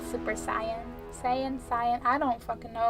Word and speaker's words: Saiyan: It's pronounced Saiyan.